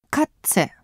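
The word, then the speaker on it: Katze: にはな 2 そしてねこですがカッツェというような発音になりますこれらは 2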